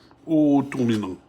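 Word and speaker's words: اؤتمن: If you begin with this, with the Hamzatul wasl here, what happens is a Dhamma on the third letter, so this becomes a Dhamma, and this becomes a waw.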